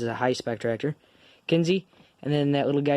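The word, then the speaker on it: Kinze: But this is a Kinsey tractor. Normally you know Kinsey for their planters, grain carts, and stuff like that. Kinsey is spelled K-I-N-Z-E. This tractor is known as Big Blue, or the Big Blue tractor.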